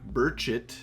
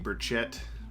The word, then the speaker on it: Burchett: burchett uh again i'm we're pretty sure that's how you pronounce his name now because uh the justice league adventures guys on our live stream pronounced it that way even though we've been saying burchette for forever uh i look forward